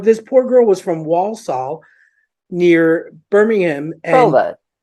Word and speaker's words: Walsall: ridiculous like what this poor girl was from Walsall near Birmingham Walsall and I just couldn't say it right you